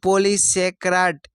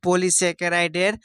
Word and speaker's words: পলিস্যাকারাইড: হচ্ছে উৎসেচক নেক্সট হচ্ছে একটি পলিস্যাক্রাইড এর নাম লেখো এটা সঠিক উচ্চারণ হবে পলিস্যাকারাইডের নাম লেখো তাহলে একটি পলিস্যাকারাইডের নাম